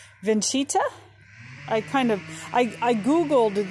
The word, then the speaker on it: Vincita: i think it's pronounced vincita i kind of i googled the pronunciation and everything i found makes it sound like there's a ch like vincita it's italian um and i think